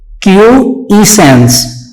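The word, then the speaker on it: quiescence: क्या पढ़ेंगे इसे, क्यूइसेंस। ठीक है, इसकी प्रोनाउंसिएशन को फिर सुन लीजिए, क्यूइसेंस।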